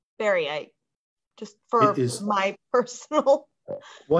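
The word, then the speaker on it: baryte: And how do you spell baryite? Just for my personal. Well, and I'm probably pronouncing it incorrectly. So let's actually, if I read it, we'll call it barite.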